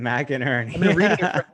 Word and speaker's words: McInerney: you say his name mac and ernie mckinney but mcinerney that's right mac and ernie the the mc always throws me off on a name it's mac sometimes it's mick yeah we were talking